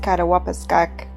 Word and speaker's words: Attawapiskat: It's actually pronounced Attawapiskat in Cree, which I believe means the place between the rocks.